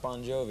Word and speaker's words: Bon Jovi: your actual name is Boni isn't no it's pronounced bonjovi it's just the the phonetics in Italian the GI is a j sound right you so you're